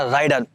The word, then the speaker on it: Raider: आता है टीवीएस का राइडर। अब आप इसे राइडर बोलो, रेडर बोलो, जो भी बोलो आप प्रोनाउंसिएशन में, इसका नाम वैसे यूजुअली राइडर ही सब लोग ज़्यादा बोल रहे